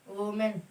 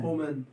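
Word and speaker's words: women: ओमेन हाँ ओमेन हाँ क्या बोला जाएगा इसे, वुमेन। हाँ भैया ये बोला, इसे क्या पढ़ेंगे, वुमेन। क्या पढ़ेंगे इसे, ओमेन ओमेन, सब है ओमेन, इसको पढ़ेंगे वी मैन,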